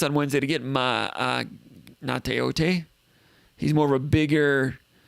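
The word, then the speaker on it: Gaoteote: It starts with a G, but it's pronounced Nauteote.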